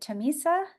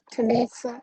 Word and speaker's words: Tanisa: Is it Tomisa? Yes, Tanisa.